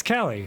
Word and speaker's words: Kali: Hang on, now I have to figure out how the fuck to pronounce this. It's Callie.